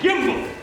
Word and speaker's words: gimble: Make the G hard in Gaia and Gimble.